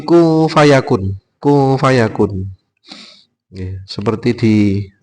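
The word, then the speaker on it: كُن فَيَكُونُ: He kung harusnya kung harusnya kung fayakun. Ayat sebelumnya pripun? Eh wis pokoke nek ora p. Yang jelas bukan membaca kun fayakun, tapi ku fayakun.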